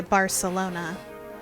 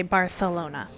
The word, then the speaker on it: Barcelona: a th so like a normal spanish speaker would say barcelona and if you're from spain you say barcelona which i do always